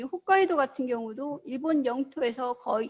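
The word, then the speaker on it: 北海道: 그 다음에 이제 한국에 또 많이 알려져 있는 것 중에 하나가 가장 북쪽에 있는 이곳을 홋카이도, 한자로 북해도라고 쓰고 홋카이도라고 있습니다.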